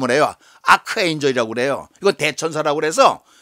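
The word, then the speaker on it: arch: arc 에 차 그랬죠 아취 라고 발음하지 않고 k 로 발음 온에어 아크 레인저 그래요 그대 천사라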